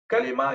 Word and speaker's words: कलिमा: और हमारे यहाँ जो आमतौर से लोग इसको प्रोनाउंस करते हैं वो कलमा है.